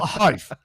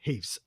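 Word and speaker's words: HEIF: Do we say H-E-I-F? Heath. Heath. It's not Hive. I've been calling it Hive all this time. So it's Heath.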